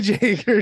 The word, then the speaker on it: Jaeger: is it joerger right Jagger J it's not joerger it's Jagger dude everyone pronounces it joerger that's just what it looks